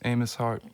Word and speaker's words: Amos Heart: Kendall Luan hello and my name is Amos har spelled with an A and an m an O and an S and then the word heart and uh it's a